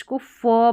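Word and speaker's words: cough: अब यहाँ पर है कि कुछ स्पेलिंग्स में GH को फ पढ़ा जाता है, कुछ स्पेलिंग्स में।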